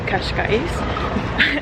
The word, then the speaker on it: Cascais: little day trip to kashka which is I looked up how to pronounce it Kash I believe to have a little